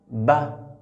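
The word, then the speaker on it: بَ: Pour prononcer cette lettre, on ferme la bouche et on délaisse les deux lèvres. La bouche est fermée d'abord. Ba.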